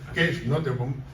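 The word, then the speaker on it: Cees Nooteboom: nombre complicado que es cees nobom aunque ya sé que se pronuncia qu es not poeta novelista e hispanista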